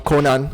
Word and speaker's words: Conan: very different vibe from conan or konan i guess i should say the japanese pronunciation konan but man conan is